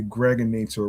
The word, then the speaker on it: Gregonator: I'm your man, aka the Gregonator, rhymes with now or later.